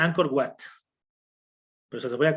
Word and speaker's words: Angkor Wat: Básicamente se pronuncia Angkor Wat, pero se lo voy a colocar acá.